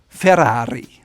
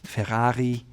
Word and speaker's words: Ferrari: You can tell that double rolled Italian R. Ferrari. A lot of Americans may say Ferrari, or Germans may say Ferrari, but the proper way to say it is Ferrari, double R, Ferrari.